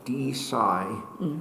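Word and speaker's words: DeSci: Okay, now so-called D-Sci, which has the admirable quality of rhyming with D-Fi, but it's not clear to me that beyond that it has predictive power.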